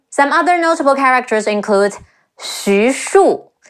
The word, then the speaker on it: Xu Shu: Some other notable characters include Xu Shu, Xi Yu Xu, Shi Wu Shu, Xu Shu, Zhou Cang, Zhi Ou